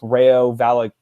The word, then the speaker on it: Rayo Vallecano: The stadium the franchise was sort of put on a hiatus, and then in order to revive the deal, they got in Rayo Vallecano.